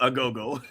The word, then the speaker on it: agogo: I can't believe I own 3 Agogos. So this is an Agogo. It's spelled A-G-O-G-O, a go-go.